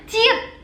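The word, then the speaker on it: 치읓: Dan next ada yang namanya ciet. Nah, apa bedanya ciet tadi dengan ciet? Karena yang ciet kedua itu ada h, ada anginnya gitu guys.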